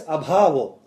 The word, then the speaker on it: abhavo: But Acharya Madhva says, vidyate plus abhavo, a is silent.